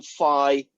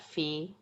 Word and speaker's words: phi: this thing upwards until it makes the angle phi with the Z axis. So this guy is R, this guy is theta, and this guy, does anybody know what that Greek letter is called? Is that phi?